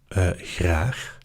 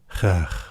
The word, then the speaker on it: graag: You can intentionally not emphasize the G. Graag, where you sort of go in the middle between a normal G and a very soft G.